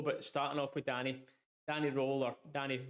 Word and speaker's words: Röhl: But starting off with Danny Röhl, or Danny Röhl, I believe is the correct pronunciation.